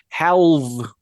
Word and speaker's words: halve: Halve? Halberd. How do you say half that way? Have. Halve.